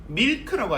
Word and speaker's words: milk: 일단 M은 미음이다. 그렇죠? 그 다음에 I는요 E 발음이 나고, 그 다음에 원래 L을 우리가 리을 취급했지 않습니까? 그래서 밀크라고 발음했는데 이제는 그게 아니라는 거죠. 어떻게 하면 되겠습니까? 일단 미까지는 맞습니다. 근데 미, 우 하셔야 되죠. 미, 우, 크 하셔야 되는 거죠.